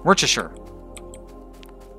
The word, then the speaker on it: Worcestershire: Lots of people mispronounce Worcestershire. Worcestershire. How I would pronounce it based on the sauce, Worcestershire sauce.